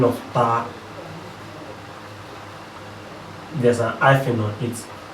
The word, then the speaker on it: taa: Ta. Here we have 3 which is called ta. It's pronounced as ta in Ogoni. T-double-A.